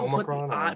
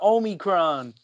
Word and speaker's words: Omicron: Yeah, but people Omicron, put the emphasis on the I too much. They say Omicron. Yeah? I don't like that. Just say Omicron. It's the Omicron.